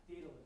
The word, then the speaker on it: Daedalus: Daedalus, that's how you say it.